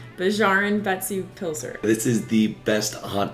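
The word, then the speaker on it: Bæjarins Beztu Pylsur: We both don't speak Icelandic very well, but we think it's pronounced Bjarn Betsu Pilser.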